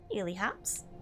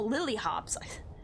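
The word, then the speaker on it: Lilyhops: Illy hops. Thank you. A little check mark. Or, how do you say that? Oh, lily hops. Not illy hops, like I love you hops.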